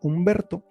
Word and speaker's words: Humberto: Entonces tenemos la palabra Humberto. Como la H es muda, no se tiene que representar.